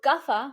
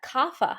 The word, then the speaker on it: Kapha: that like everything settles so gaffa we pronounce that kafa here in the west GAA person is going